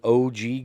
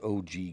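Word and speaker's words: ogee: This is called an OG gutter. And that is spelled One broken pencil.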